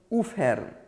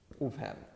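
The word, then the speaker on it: אויפֿהערן: And finally, aufhören. Even though a lot of Yiddish speakers would pronounce it aufhören, the spelling is oif. And in fact, some people even pronounce it that way too.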